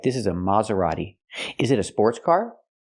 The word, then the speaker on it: Maserati: Italian kind of thing but again in American it's maseri it is not pronounced Mazerati in America we say Mazerati so the first syllable is more open not M but Ma use the open Sound ah like hot and stop ma Maserati and the t is not pronounced like t t is pronounced d a fast D Maserati not Maserati but Maserati use the fast D this is a Maserati